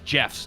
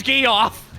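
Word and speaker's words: Geoff: higher standard listen here i refuse to respect g-e-o-f-f as jeff's okay wow pronounced and they have to accept that their name is gay off man my friend jeff's gonna be real sad that you said you're frank get me off yeah i'll be upset no it's jeff okay it's pronounced gif it's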